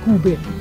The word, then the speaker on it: Cube: Cube perché la pronuncia è tedesca, io dico sempre Cube ma si dice in realtà Cube.